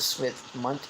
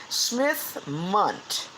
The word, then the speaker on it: Smith-Mundt: Smith-Mundt. Two different last names. Smith as in, just Smith, and Mundt, I think, is spelled M-U-N-D-T.